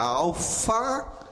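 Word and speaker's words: άλφα: Olha, a alfa, escrito justamente em caracteres gregos. E a pronúncia é A, como na letra, como na palavra mar.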